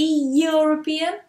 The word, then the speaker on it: European: Doesn't start with a vowel sound, does it? It starts with a y. Yeah. So here, I don't say the European, but the European.